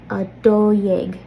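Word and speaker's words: dó dhéag: So instead of jeg, this is yeg, a do yeg.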